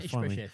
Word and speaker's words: Ishbosheth: Ishbosheth.